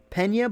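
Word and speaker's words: Peña: Brian Pena says, FIveJay, by the way, is pronounced Pena, but it's okay. Oh, because it's an Enye. It's not an N. In Spanish, it is literally a different letter.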